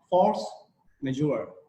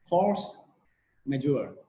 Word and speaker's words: force majeure: majeure this is a latin word you can pronounce with me if you if you like force majeure force majeure yes okay if you have you can pronounce